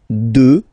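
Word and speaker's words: deux: 2, final X not pronounced, okay, 2.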